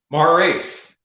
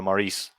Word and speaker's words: Maurice: Maurice. Yeah. That's a very cool name, dude. Well, it's not as cool when I tell you how it's pronounced over here is just Morris, so it's not that cool.